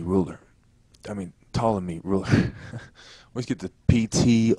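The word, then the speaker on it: Ptolemy: I think to say pamy because I'm thinking about how it's spelled in my head but it's reallymy and the p is silent but anyway she goes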